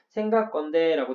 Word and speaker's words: 생각건대: 생각건대라고 되어 있는데 A의 경우에 된소리가 발음되는 경우 막디, 생각건대. 앞에 받침이 기억으로 끝났고 앞에 받침이 기억으로 끝났으니 뒤에 오는 예사소리, 된소리가 날 거예요.